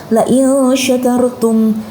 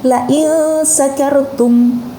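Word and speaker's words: لَئِنْ شَكَرْتُمْ: Nah, itu menggunakan shin, la in syakartum. Apabila kamu bersyukur gitu, maka akan aku tambah nikmatmu. Nah, kemudian kalau orang tidak belajar Al-Quran, shinnya itu dibaca dengan sin menjadi la in sakartum.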